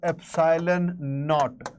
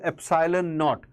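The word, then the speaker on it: epsilon naught: Okay, it is pronounced as epsylon KN. Okay, this is how you will uh hear people uh calling it out, pronouncing it. It is called epsylon KN.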